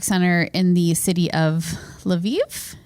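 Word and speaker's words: Lviv: in the city of laviv is that how you would pronounce that l apostrophe Viv yeah maybe laiv laiv so Viva laiv right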